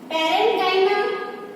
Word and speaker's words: parenchyma: See the students, their pronunciations. Parenchyma, collenchyma and sclerenchyma.